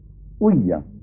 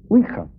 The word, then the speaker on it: Ouija: y sobre todo con la huilla, que es así como se pronuncia. Generalmente se dice ouija, pero la verdad es que oui es sí en francés y así se pronuncia, y ja es ya, que es sí en alemán.